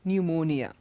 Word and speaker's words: pneumonia: pronounced there it's just pneumonia psychologist P is not pronounced P is silent so in all these